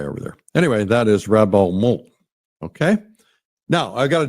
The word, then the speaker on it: rabattement: So when you're painting, ask yourself, can I do a rabattement? Rabattement. The T is silent.